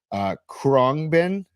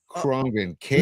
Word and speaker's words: Khruangbin: Khruangbin out of Texas. Khruangbin. Metal, right? No. They're like dub reggae funk lounge. Spell it again.